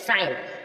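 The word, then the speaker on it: sign: हो जा रही है जी के बाद एन आएगा जी साइलेंट हो जाएगी साइन साइन मींस हस्ताक्षर एस आई जी एन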